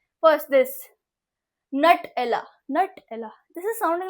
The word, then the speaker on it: Nutella: be like, wow, that is not how I pronounce it. So it is Nutella.